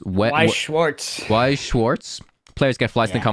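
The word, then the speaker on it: Weiß Schwarz: I've no idea how to pronounce this game. I'm pretty sure it's a card game. It's Weiss Schwartz.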